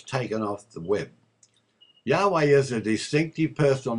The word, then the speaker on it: Yahweh: There is universal consensus amongst the scholars today that the sacred Tetragrammaton is Yahweh, and it is to be uttered and pronounced Yahweh.